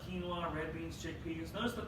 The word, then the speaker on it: quinoa: You might have to pronounce it quinoa. It's not. It's quinoa.